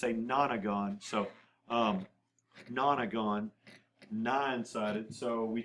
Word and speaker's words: nonagon: I know it looks like nono, but it's pronounced nana. It's a nonagon.